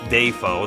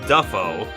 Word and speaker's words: Dafoe: And he basically comes down to, within his own family, a branch says Dafoe, the one he's from, and another branch says Duffo, like we're familiar with.